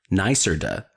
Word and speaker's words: NYSERDA: Suncommon is a NYSERDA, NYSERDA, pronounced NYSERDA, gold quality solar installer, which means they exceed annual quality assurance criteria and consistently provide top-tier performance.